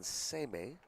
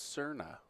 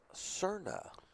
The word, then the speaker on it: Serna: All right, Newman and Cardenas versus Newman and Seme. I think that's Serna. Serna. We definitely have different regional pronunciation.